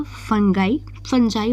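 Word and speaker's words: fungi: सबसे पहले आता है बैक्टीरिया, फंजाई वैसे बोलते हैं, ठीक है, फंगी भी बोल सकते हैं, मतलब प्रोनाउंसिएशन अलग अलग होता है लोगों का।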